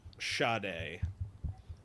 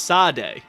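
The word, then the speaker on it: Sade: Is that it's shade? I always thought it was sad. No, it's shade. I did not know there the Well, I guess the H isn't silent. It's invisible cuz it's spelled S A D E, right?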